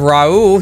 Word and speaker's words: Raul: get into this all right so we have Raul here that's how you pronounce it right yeah yeah yep we are